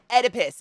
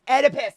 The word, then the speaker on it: Oedipus: could you you've made it worse how do Oedipus it's Oedipus I knew I was saying it wrong thank